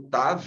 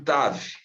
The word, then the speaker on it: Tav: A próxima letra que nós estamos vendo aí, o TAV, está bem aqui no centro da tela, ela soa como o grego TH, que aparece em think, thirst, tá? Thirst, ok? O mesmo som, tá? Do TAV, soa com um TH.